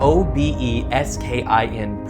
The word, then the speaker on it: Obeskin: I don't remember much about the details of the conversation except that it was a friendly one and his name was Obeskin. O-B-E-S-K-I-N, pronounced Obeskin.